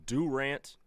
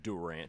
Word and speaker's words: Durant: If you ever hear me pronounce Durant as Durant, send me for an evaluation. Because that is Durant.